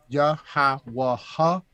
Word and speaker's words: Yahawashi: Moses and Elijah and Yahawashi. All right, so you had Moses. No, I said it wrong. Yahawashi is the true correct pronunciation.